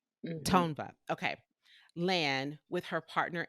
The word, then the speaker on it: Tongva: I know who they are, but I don't pronounce it well. Tongva. Tongva. Tongva.